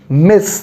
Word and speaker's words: Miss: It is Miss, the S sound, Miss.